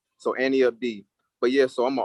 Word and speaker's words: anteupd: So everybody says that, but it's pronounced like Annie Up, like Annie, and then Up D. So Annie Up D.